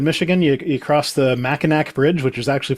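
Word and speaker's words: Mackinac: Uh, but then you go up north in Michigan, you you cross the Machin Bridge, which is actually pronounced Meno because somehow the C makes a W sound there.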